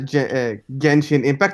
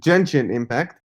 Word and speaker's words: Genshin Impact: i have like almost 10 hours of uh genji impact not not to be confused with junction impact which is the wrong way to pronounce the game as we learned in our